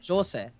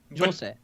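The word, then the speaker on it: José: Because how you pronounce it would be Jose. Jose.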